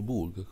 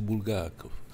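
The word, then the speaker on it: Булгаков: miha detto su chi e io ho detto su bulgac Ah non lo conosco io l'ho detto ma è quello che ha scritto Il maestro e lei mi ha detto si dice bulgakov e quindi no cioè è una cosa che sbagliano tutti io sembra che sono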